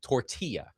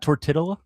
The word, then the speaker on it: tortilla: First of all, the word is tortilla. It's not tortilla.